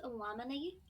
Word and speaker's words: Illuminati: Actually, it's pronounced Illuminati.